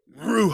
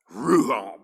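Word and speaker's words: רוח: Ruha. All right. If you say it right, it becomes an exhalation. You breathe in. Ruha. breathe out. Right? That's how you got to say it.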